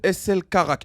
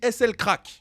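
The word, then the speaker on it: SL Crack: un artiste qui s'appelle SL carac je ne sais pas comment on le prononce ah ça se dit SL craque mais les gars il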